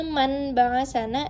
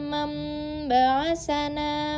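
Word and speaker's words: من بأسنا: Jadi, jika kalian membaca qolu ya wailana man baasana itu salah. Yang benar adalah qolu ya wailana man baasana mim marqodina man baasana. Nah, jadi yang awalnya man menjadi mam.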